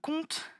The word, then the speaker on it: compte: Cette fois-ci, le mot compte, il est composé de 2 syllabes.